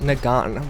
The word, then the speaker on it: Nagant: to be it for the mossen nagan with the silent T because it is a French word and uh yeah I